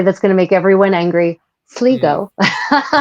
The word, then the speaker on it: Sligo: Sligo. Sligo. Sligo, Sligo, that's the right? one. I'm gonna pronounce it the medieval way, not the modern way.